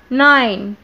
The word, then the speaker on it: nine: برضو نفس اللي حصل مع time و five. ايه اللي حصل؟ الإي في آخر الكلمة ما تنطقتش بس أثرت معايا على الحرف المتحرك اللي في النص اللي هو I خلته يتنطق باسمه.